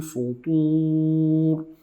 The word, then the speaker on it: فطور: We hide the noon into the fa and we add the ghunna and say من فطور. And ra here is heavy ra. فطور. Why? Because it's a sukoon ra.